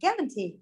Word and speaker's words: guarantee: Bình thường các bạn ơi, cô bảo này, chúng ta kết thúc là EE thì trọng âm sẽ rơi ngay chính nó. Nhưng trở về đặc biệt các bạn không không ai đọc là guarantee cả. Đó lại nào, guarantee.